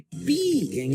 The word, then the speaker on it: pi: Porque pi, em inglês, se pronuncia pie e é igual a torta.